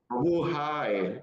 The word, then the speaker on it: Mabuhay: Mabuhay, or do I say it right?